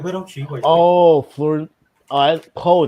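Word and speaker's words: Pugh: Poe, that's how you say it. I thought it was P.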